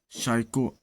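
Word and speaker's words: psycho: शॉ धिक्कार, साइको आत्मा या मन से संबंध।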